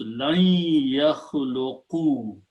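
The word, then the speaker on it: لن يخلقوا: Okay, and when you read that, lan and ya, when they come together, they go into the idgham, and you pronounce lan yakhluqu.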